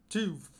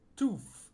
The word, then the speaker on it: tooth: Eu tenho muita dificuldade para pronunciar tooth, porque eu tenho o costume de fazer tof e fazer o som de f.